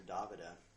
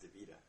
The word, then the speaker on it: Davida: talking about uh Davida everybody calls her DaVita but actually her name's pronounced DaVita uh I was with